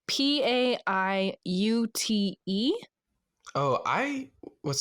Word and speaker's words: Paiute: Washoe and I do not know how to pronounce this. Maybe you can help me, guys. It's p a i u t e.